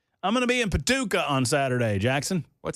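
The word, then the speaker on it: Paducah: I got in-laws in Paduka. Yes, sir. He uh I said it wrong, Ken. The way you're supposed to say that if you're going to say it with that southern draw.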